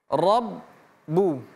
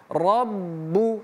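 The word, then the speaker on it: رَبُّ: Jadi membacanya ada dua bunyi huruf ba yang harus kita sebutkan. R bu rbu dengan syarat tidak boleh putus seperti ini. Rabbu tapi robu ditahan. Rabbu baik.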